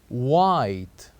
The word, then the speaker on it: white: have the words like white white say after me white so here we keep the H silent in this word and we said white